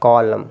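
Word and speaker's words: column: ए silent हो जाएगा तो सीओ एल य एम कॉलम क्या हो जाएगा कॉलम क्या हो गया कॉलम देखिए यहां लिखा है कॉलम ठीक है ना नेक्स्ट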